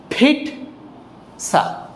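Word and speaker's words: pizza: এটার ব্যাপারটা হচ্ছে এমন ফিট সা ফিটসা ফিটসা ফিটসা এখানে একটু ধাক্কা দিয়ে বলতে হবে এটাকে আমরা স্ট্রেস বলি ইংলিশে ফিটসা ফিটসা আই লাভ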